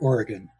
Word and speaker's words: Oregon: do you say that we say it Oregon Oregon see I would have said gone okay it's Oregon right I knew there